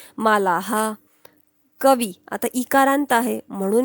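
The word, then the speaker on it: मालाः: म्हणून ह म्हणणार देवह मालाहा आता आकारांत आहे म्हणून हा म्हणणार मालाहा लिहायचं नाही पण बोलायचं असत ते मालाहा कवी आता इकारांत आहे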